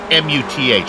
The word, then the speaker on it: Muth: How would you go with M-U-T-H? What would be your call on that pronunciation? M-U-T-H, in German, you don't pronounce the H, so that is just Daniel Muth.